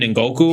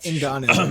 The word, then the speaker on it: Ngannou: Ngoku or something like that? Ngannou.